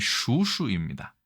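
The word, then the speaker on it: 蜀黍: 수수하는 것인데 그렇죠 자이 촉서 발음이 신기하게도 예 중국어 발음이 슈슈입니다 이거를 그대로 우리나라가 슈슈보이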